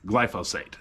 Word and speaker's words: glyphosate: if you didn't hear it is glyos Sate glyphosate that is what is the